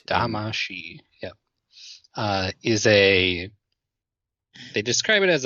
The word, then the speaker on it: Damacy: it's a she at the end. Damacy.